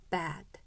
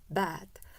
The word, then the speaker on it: bad: 나쁜이라는 형용사 자요 발음 기우가 들어 있으면 어떻게 발음해야 되죠 bad 다시 한번만 bad 그래서 에다가 렇게 소리 내지 마세요 뜻에는 자음